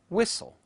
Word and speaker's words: whistle: as night light taught the letter T in such words as listen whistle the letter K as